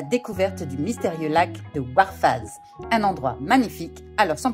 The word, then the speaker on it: Warfaaz: C'est comme Call of Duty. Call of Duty Modern Warfare. Bah, c'est pareil mais vous rajoutez un Z.